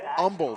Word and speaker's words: Humble: Stephen watching from Humble, not Humble, Humble, Texas. Don't pronounce the H.